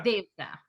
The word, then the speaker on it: Devatha: Devatha.